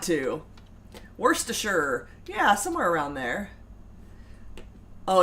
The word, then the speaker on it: Worcestershire: Chris Friend says, that is the pronunciation from the dictionary. Worcestershire.